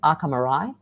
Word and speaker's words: Arca Morai: The name of the business, pronunciation-wise, is Arca Morai.